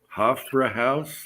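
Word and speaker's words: Hofbräuhaus: i can't pronounce that half-brown yep hof for a house like an opera house houses in vegas too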